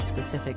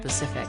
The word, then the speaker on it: specific: Patel and the SP at the start of specific rather than rendering it Pacific thank you also vital